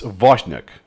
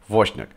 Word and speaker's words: Wozniak: add a schwa and then the name it's Wozniak is pronounced if it was just a V then the "I" is not... is ignored so okay it's there but you can ignore it. Wozniak and the Z yeah is a slightly different